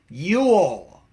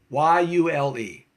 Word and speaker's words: Yule: No, it's Yule. Y-U-L-E. You got to put that tongue. That tongue's got to go up there.